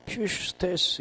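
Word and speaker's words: ψεύστης: 거짓말은 뜻이 푸슈스테스라도 하고 퓨스테스라고도 하는데 엡실론이 위로 발음되니까 퓨스테스 이렇게도 하죠.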